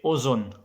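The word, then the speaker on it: أذن: And then if you say Ozon, Ozon means ear. You know ear, Ozon. Ozon means ear. Ozon. Ozon means ear, then it's pronounced like O.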